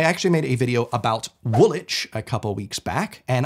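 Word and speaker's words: Woolwich: I'm on your tricks just ignore that W and you'll be fine however if you're looking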